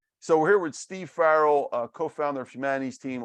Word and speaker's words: Farrell: say your last name is it Farrell is that right yeah Farrell like uh Farrell's Ice Cream right Carl's okay all right thank you so much so we're here with Steve Farrell uh co-founder of humanities